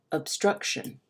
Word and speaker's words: obstruction: back to that word obstruction so we know in the word obstruction that struck is the syllable that is emphasized listen again obstruction now